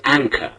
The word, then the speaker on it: anchor: an anchor anchor an two syllables an listen to it again an and is a first syllable and it is stressed C is a second syllable the final r in the word is not pronounced the first syllable which is stressed is an it's rather long an and the second syllable is short is short let's say it again